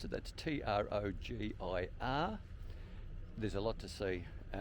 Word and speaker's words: Trogir: On this occasion we're at the old city of Trogir, is how I'm going to pronounce it. That's Trogir.